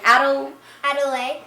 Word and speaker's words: Adelaide: And how do you say your name? Adelaide. Adelaide. I was going to say Adelaide, sorry.